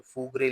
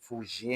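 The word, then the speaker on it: fougère: आपको स्क्रीन पे स्पेलिंग नजर आ रही होगी जो फग्रे लिखा जाता है लेकिन फूजे है। फूजे कहते हैं अर्ती ऑकमोस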